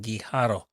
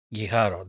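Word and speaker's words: Guijarro: That is why I try to stick to the original pronunciation. If that's the case, I don't know. But I guess that's how they say it. Guiharo, that's how the Spanish say it.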